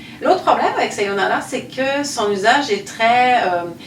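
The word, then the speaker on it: さようなら: connu en français, mais qu'on prononce assez mal habituellement. Donc le yo est allongé et vous allez avoir un R. Donc attention, votre R c'est un L, je le rappelle. Donc Sayonara.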